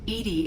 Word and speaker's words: EDI: EDI is the phonetic pronunciation of EDI. That is an acronym for Enhanced Defense Intelligence.